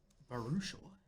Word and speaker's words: Baruchel: Baruchel.